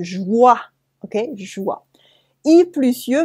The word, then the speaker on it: joie: O plus I make the sound wa, wa, as in joie, okay, joie. I plus ye make ye, okay, ye, like the eyes, ye, les yeux, the eyes. And joie plus ye make joyeux,